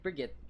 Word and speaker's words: Brigitte: It's like, I don't like saying that last part of Brigitte's te. Because it's like a 3rd syllable. It's super awkward to try to follow it up. Instead, it's like Brigitte.